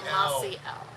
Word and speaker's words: Mossiel: It's an L made of moss. It's a mossy It's a L. mossy L.